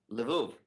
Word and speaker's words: Lvov: rabbi in a polish town of lev is that how you pronounce it lvov thank you he writes